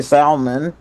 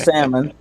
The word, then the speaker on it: salmon: In fact, I have a a meme that says the people who say happy new year's are the same people that pronounce the L in salmon. They say salmon instead of salmon.